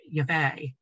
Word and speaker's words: Yahweh: The most commonly used transliteration used by scholars today is Yahweh, which has replaced Jehovah as the most likely pronunciation.